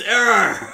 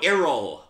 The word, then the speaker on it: Errol: My name's Error. Error 47. Yeah. Error? No. Errol.